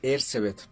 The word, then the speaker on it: Erzsébet: Bueno, e en el castellano es Erzebet, pero creo que en el en el idioma original que es el húngaro, porque ella era de Hungría, sería Hercebet con eh sí, Ercebet Batory, no sería bueno como